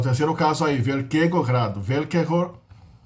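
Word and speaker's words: velkého: Velkego, em tcheco a palavra é acentuada na primeira sílaba, né? Não é que nem no polonês, que é oxítona. É paroxítona. Velkego grado, do castelo grande, né?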